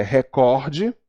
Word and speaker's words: recorde: proparoxítonas estaria acentuada a a pronúncia é recorde paroxítona nada de rubrika a